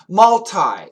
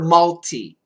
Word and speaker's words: multi: floor floors of parking malti we can say malti m l TI or multi mu TI same uh spelling pronunciation might be different multi-story multistory story s